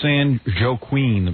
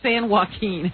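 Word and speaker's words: San Joaquin: see this is a San jqueen Valley San waen oh sorry that Spanish language again get me into trouble s San Wen well why don't they spell it with a W Robin Wen would be w a u Keen this is San Joe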